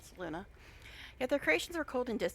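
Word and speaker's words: Selûne: I know that looks like it should be saloon, but every in the game pronounces it saloona.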